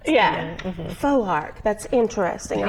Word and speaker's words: Foark: say it right right because it's difficult to pronounce yeah faux arc that's interesting i like it the full arc